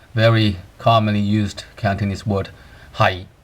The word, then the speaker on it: 喺: Sometimes we call it hai, but then sometimes you pronounce it as hai. So this word has two meanings and two pronunciations. First of all, hai, which is the fifth tone.